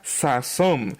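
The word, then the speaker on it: ששון: por todos nosotros pues se pronuncia como nosotros tenemos una palabra en español sazón en hebreo la palabra sazón así se pronuncia el término hebreo para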